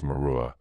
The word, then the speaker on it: Meru: of the world mountain, Meru, is pronounced in some dialects as Merua, the letter H being strongly aspirated.